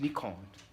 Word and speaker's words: Nikon: oh you can't Nicole that's actually pronounced Nicole in Japanese did you watch it